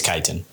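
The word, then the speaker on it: chitin: I think it's Kiten. I read it. It's Chittin. It's spelled C H I T I N. It's Jitten.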